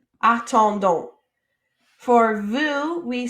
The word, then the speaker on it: attendons: All right, so we have a, attend, and donc. Attendons.